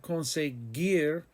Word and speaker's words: conseguir: In the verb conseguir, the G is used as a hard G.